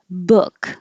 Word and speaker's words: book: ee teal turquoise turquoise book uses the uh vowel the same as good cook look could took so the uh